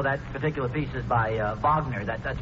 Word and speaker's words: Wagner: And naturally, I know that particular piece is by Wagner. That's pronounced Wagner, son.